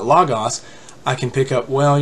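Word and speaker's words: λόγος: stuff like that one a great example everybody knows the word the word for word in the Greek language was just lagos a lot of people pronounce this logos or logos just like it would somewhat read in English we trends we transliterated letter by letter in English as L o gos but the a non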